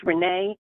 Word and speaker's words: Renee: you state your name state your name um spell it for the record please yes ma'am it's Renee re NE last name is n e